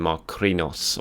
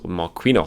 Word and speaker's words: Marquinhos: and ketiah jay zeus pepe saka balagun and marcrinos marquinhos sorry um laughing at my pronunciation there um so yeah very strong squad